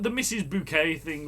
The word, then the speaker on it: Bucket: says are you mrs bucket it's not bucket darling it's bouquet bouquet dear i mean sure you can twist the spelling her name was bucket she pronounced it bouquet it's the leicester situation